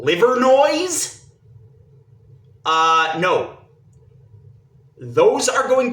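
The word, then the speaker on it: Livernois: that they make sense the way they're actually pronounced okay all the street signs for leier no in Detroit which the locals call liver noise uh no those are going to remain more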